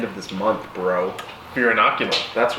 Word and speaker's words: Inoculum: at the end of this month bro here inoculum that's right and he pronounced it correctly nailed it your noggin inoculated